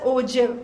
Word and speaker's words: ogive: So you have, it's Ogive, but it's pronounced as Ogive. So that's again important. It's G, but we pronounce it as J.